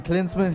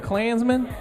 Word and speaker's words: Klinsmann: the support right now USA soccer under Jurgen Klinsmann he's finally winning are you finally finally learned how to say his name that's good yeah my cuz he's winning so I gotta represent I was hearing a Klansman Klinsmann Jurgen Klinsmann he's finally winning so that's